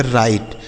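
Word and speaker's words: write: डब्ल्यू आर आई टी ई से पढ़ेंगे राइट। डब्ल्यू आर आई टी ई से पढ़ा जाएगा राइट मतलब हो गया लिखना यहां बच्चों डब्ल्यू साइलेंट है ठीक है तो राइट मतलब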